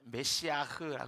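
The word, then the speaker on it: מָשִׁיחַ: 메시아는 어 히브리어로 그냥 발음하면 메시아흐라 그래요. 메시아흐라고 발음이 되는데 이것은 기름부음을 받은 자라는 의미예요.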